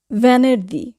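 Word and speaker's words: venerdì: বলি জুবেদি এটা ভুল উচ্চারণ যুবেদি হবে না উচ্চারণ হবে যুবেদি ভ্যানের দি ভ্যানের দি ভ্যানের দি শুক্রবার ফ্রাইডে এখানেও আমরা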